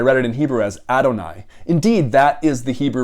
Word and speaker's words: Adonai: um when you get to this you say adoni which is really strictly pronounced like that adoni means my lords in